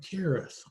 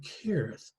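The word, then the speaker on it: Hereth: to the forest of Kerith. It's spelled with an H, but it's actually pronounced CH, the forest of Kerith.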